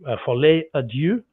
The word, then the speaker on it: Folie à Deux: But if not, I better just say Folie à Deux is what we understand it is pronounced as, meaning the madness of two, which I think is very cool.